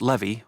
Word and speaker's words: Levi: stubbornly corrected her well you say it Levy like Chevy but yes Miss Selby